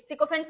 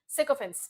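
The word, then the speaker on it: sycophant: सिकोफेंस कौन होता है, इसका प्रोनाउंसिएशन सिकोफेंट भी होता है, साइकोफेंट भी होता है, दोनों सही है, डू not worry about that. Commonly आपको साइकोफेंट सुनने को मिलेगा, ओल्ड ब्रिटिश इंग्लिश जो है उसमें सिकोफेंस सुनने को मिल सकता है, ठीक है।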